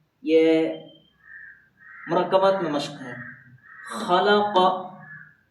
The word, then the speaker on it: خلق: مرکبات میں مشق ہے۔ خلق، ہجے کیسے؟ خا زبر خا، لام زبر لا، خلا، قاف زبر قا، خلق، اس میں کسی کو لانگ نہیں کرنا ہے۔ اذا وقب، حمزہ زیر